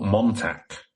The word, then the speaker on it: Montauk: the modern fact experiment project excuse me or Montauk so again it's gonna be another one I pronounce it's wrong but m o n t